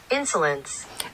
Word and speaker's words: Insolence: Querem aprender como é a pronúncia desse perfume? Insolence.